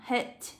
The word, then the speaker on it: head: Bởi vì B ở đây chúng ta sẽ được đọc là head, đấy là y dài.